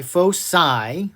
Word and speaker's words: foci: however there are two foci not foci foci it's a soft c foci there is this